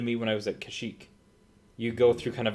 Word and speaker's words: Kashyyyk: how do I do I'm pretty sure it's pronounced Kashyyyk yeah there's a quite a few wise in